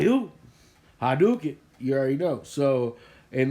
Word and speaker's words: Hadouken: here and be like that's not how you pronounce it look i play street fighter for i don't know how long it's hadook